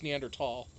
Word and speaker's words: Neanderthal: It's Neanderthal. Even though the H is there, you're not supposed to pronounce the H.